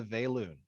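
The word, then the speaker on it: Vaelune: we have the klar and we have the value all right and then moving on to our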